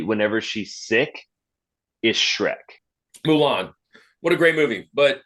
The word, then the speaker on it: Mulan: It's Mulan.